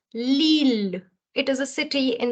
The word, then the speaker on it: Lille: So you will not say Lille or Lily. It is going to be pronounced as Lille.